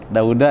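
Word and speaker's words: داود: An Dawudi Nabiyyi Dawuda bisa dibaca Dawudi enggak? Hah? Dawuda ya. Jadi nggak pernah kuping Dawudi itu salah. Itu ghair munsharif maksudnya.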